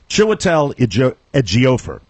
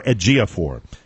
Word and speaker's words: Chiwetel Ejiofor: The actor's name, and I want to make sure I pronounce it correctly, Chiwetel Ejiofor, and or Ejiofor, and I think it's Chiwetel Ejiofor.